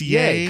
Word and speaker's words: Ye: Is it yay? I don't know what he does. Dancing. I know he's currently. The Y-E is pronounced yay?